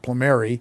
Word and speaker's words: Plumeri: My college professor told me it should be pronounced Plumeri, so it was Plumeri ever since, with my father's permission.